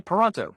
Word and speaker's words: Paranteau: hire him to speak let me start by helping you pronounce my name correctly if you can say Toronto then you can say Ponto it's that easy have you ever looked